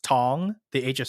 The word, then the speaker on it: Thong: older like we would always tell people it's pronounced tong the age of silent but a lot of people like when they see it their first thought is to go thong just because you know they don't really underst